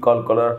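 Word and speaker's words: قلقلة: আর আজকের ক্লাসে থাকছে কলকলার হরফ, অর্থাৎ কোরআন পড়ার সময় আমরা কলকলার হরফ উচ্চারণ করে থাকি।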